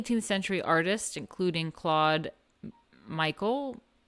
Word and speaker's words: Michel: Many 18th century artists, including Claude Michel. It's not Michael. Claude Michel, called Clodion, 1738 to 1814, specialized in small sculptures representing sensuous Rococo fantasies.